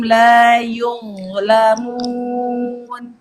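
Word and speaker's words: لا يظلمون: La yuz, sentuh ujung lidah Anda ke tepi gigi seri atas, yuz, la, sambil mengangkat pangkal lidah. La yuzlamun, seperti itu.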